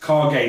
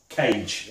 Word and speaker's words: Kage: This is the Legend of Kage, and it's pronounced Kage, not Cage, as I was pronounced.